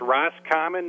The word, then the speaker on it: Roscommon: So first of all, how do you say the city that you guys are located in? It's Roscommon, Michigan. Roscommon.